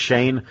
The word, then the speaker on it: Shen: was Americanized um where it looks like Shen it should be Sher but it's pronounced Shane um that I always